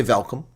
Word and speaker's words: welkom: Or you can say welkom. Welkom, like German.